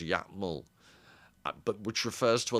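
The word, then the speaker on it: Iatmul: study a tribe that I think Bateson called, I'm trying to remember, the Yatmal, a capital I, A-T-M-U-L, and I think it's pronounced Yatmal, but which refers to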